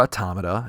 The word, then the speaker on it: Automata: This week he is catching up on Nier Automata, or Automata, if you want to be picky with your pronunciations.